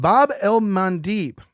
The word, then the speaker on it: Bab el-Mandeb: We're going to the Strait of Bab el-Mandeb. And I got that pronunciation right with our producers before Seena got sick.